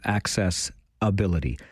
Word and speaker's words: AccessAbility: I had the distinct pleasure last evening of spending time with my friends from KW AccessAbility. I always try to emphasize the name of the organization that way, AccessAbility, because if you think